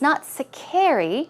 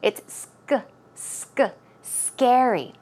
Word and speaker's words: scary: Also, it's not scary, it's scary. Okay, scary. The syllable goes on the stress goes on the first syllable.